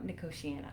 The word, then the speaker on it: Nicotiana: And there's the one that I don't know how to pronounce, Nicotiana? Nicotiana? Nicotiana, Yes.